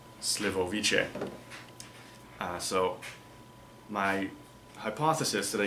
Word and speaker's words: Slivovice: the even more awful however this is pronounced slivoviche so my hypothesis that